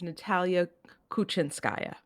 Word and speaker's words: Natalia Kuchinskaya: So I will do the pronunciation for you. It's Natalia Kuchinskaya.